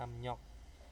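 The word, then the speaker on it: 압력: amnyok amnyok itu tekanan nah ini tulisannya amriok menjadi amnyok nah ini pelafalannya ya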